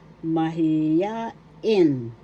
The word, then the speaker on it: mahiyain: First syllable ma. Second syllable he third syllable ya. Fourth syllable in. The accent mahiya is in the third syllable in mahiya in English